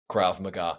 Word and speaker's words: Krav Maga: Cra uh cra sorry Krav Maga. Yeah, Krav Maga. Okay. So, it's spelled like MAGA almost.